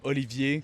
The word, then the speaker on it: Olivier: in English, do I want to change to Oliver? Yeah. But I no I say my name is Olivier.